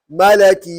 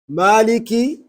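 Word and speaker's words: مالك: read it malik yomidi but if i read it malaki you need the malaki this is the wrong this is the wrong you know because it can only change to maliki to maliki all right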